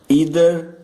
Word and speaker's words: either: एट द एंड ईदर को आइदर भी पढ़ा जा सकता है, दोनों करेक्ट हैं, ईदर या आइदर ये दोनों करेक्ट हैं।